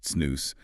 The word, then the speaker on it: snus: So, SNOS, and it's pronounced SNOS, is basically a moist smokeless tobacco product.